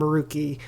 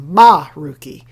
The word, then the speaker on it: Maruki: And it's a discussion between her, a teacher, and Maruki, or as they all say in the scene, Maruki. They really emphasize the ma, so I don't know.